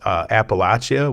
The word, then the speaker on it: Appalachia: Eastern Kentucky, the so-called Appalachia, we all pronounced it wrong, calling it Appalachia.